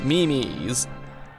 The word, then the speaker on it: Me-Mes: welcome to the 2022 Mimi's yes it's pronounced Mimi's it's like MiMi Big Boy 2022 had